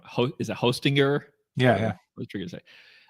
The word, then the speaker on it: Hostinger: Ho is it Hostinger? Yeah. Yeah. what you're going to say. Um, I'd probably go with Hostinger because they're using Lightseed um to power everything.